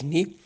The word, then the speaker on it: Nu: Hoje de manhã o governo israelense anunciou que tem o primeiro israelense infectado pela variante Ni, se escreve NU, mas se diz Ni.